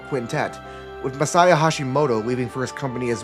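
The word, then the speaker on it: Masaya Hashimoto: The main man behind the original East duology was Messiah Hashimoto, a developer who formerly worked at Falcom before leaving following the release.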